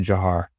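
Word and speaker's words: Dzhokhar: um so you know yes it looks like you know d-z-h-o-k-h-a-r something like that but um but it's but it's actually jahar is how he pronounced it that is i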